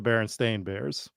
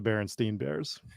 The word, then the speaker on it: Berenstain Bears: It's pronounced differently, right? Is that what it is? It's actually the Berenstain Bears, but everyone thinks it was the Berenstein Bears.